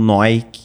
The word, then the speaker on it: NOI: Agora que a gente abreviou ali, estamos trabalhando com o NOI, que é como se lê mesmo assim, né? A pronúncia com um acento no O e para tentar diminuir um pouco a dificuldade do pessoal.